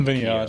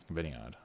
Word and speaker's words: Vinny OD: or Vinny OD, and Vinny Odd. Keo. Vinny Odd. Okay. I wasn't sure how to say it. I thought it was Vinny OD or something like that.